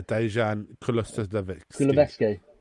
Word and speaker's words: Dejan Kulusevski: Yeah, Dejan Kulusevski. You pronounce that much better than I ever could.